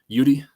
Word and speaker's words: Eudy: me on Twitter Cudi last name EU d y That's me as you say it pronounced like Rudy um makes me want